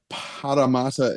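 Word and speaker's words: Parramatta: Yeah, there's two arts, so you really have to roll it.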